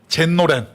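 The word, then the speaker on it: 全労連: 전 노련을 만나러 갔어요 그것을 일본 발음으로 잰 노래 이렇게 얘기해요 일본에는 가장 큰 단체가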